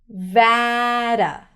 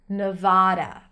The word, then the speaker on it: Nevada: So, ne, I pronounce it with a schwa. You can also hear it with an E sound, ne. Just pronounce the schwa, it's easier. Nevada or Nevada.